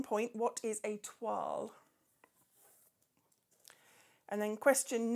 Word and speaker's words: toile: Question 8, what is a toile? That is the correct pronunciation by an English person, not as someone I used to work with, a twirly.